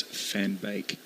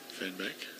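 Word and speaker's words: Van Beek: Dutch nationalists chime in it's fan bake fan bake fan B fan back fan back this is um is a learning experience behind the mark As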